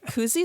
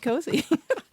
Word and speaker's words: koozie: Koozie is a brand name like Kleenex. because they the proper way to pronounce it. No, it's not. It's a koozie cozy.